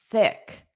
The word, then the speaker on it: thick: So that's voiced them a thick thick. Don't forget to get that tongue. You must get your tongue between your teeth. Thick. Thick is unvoiced.